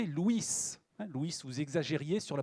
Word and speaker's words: Louis: louis 7 le jeune louis 7 avant louis se prononcer luis luis vous exagérez sur